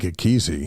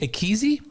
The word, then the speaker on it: Ekezie: I think Ekezie. Ekezie?